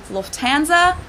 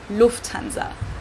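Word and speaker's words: Lufthansa: flown with them before in English people usually say Lanza but in German we say Lanza so the emphasis on the first syllable Lanza versus Lanza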